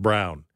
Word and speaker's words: Braun: say his name right it's spelled b-r-a-u-n but he pronounces it brown so anyway that's another